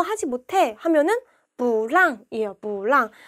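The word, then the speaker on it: 不让: 하지 못해 하면은 무랑이에요 뿌랑 뿌는 사성인데 얘가 사성이니까 여기서 이성 발음 해줘야 되겠죠 그래서 몰랑 누구한테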